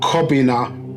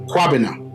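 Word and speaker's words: Kwabena: It's not Okran, it's Akran. It's not Kobina, it's Kwabina. So in our language, it's got a different pronunciation. In misbat-iya, in Sabaean, it's got a different pronunciation.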